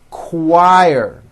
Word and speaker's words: choir: question, quiet, queen, qualify, quit, Quebec, quilt, and also in the CH word, choir.